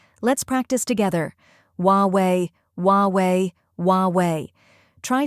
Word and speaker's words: Huawei: to pronounce it is huwei the H is silent so you start with W the second syllable is